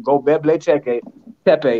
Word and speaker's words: Göbekli Tepe: Because, I mean, if you anybody Google Göbekli Tepe, it's spelled just like I said, Göbekli Tepe.